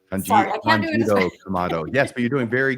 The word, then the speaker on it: Tanjiro Kamado: Tanjiro Kamado. Was I close? Tanjiro. Okay. Sorry, I can't do it. Tanjiro Kamado.